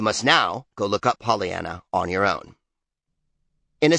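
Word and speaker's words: Pollyanna: In a sentence, the dictionary indicates that polyiana rhymes with French Guana.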